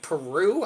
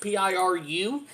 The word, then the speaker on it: Piru: The body had been discovered floating in Lake Peru, I believe is how it's pronounced, Piru.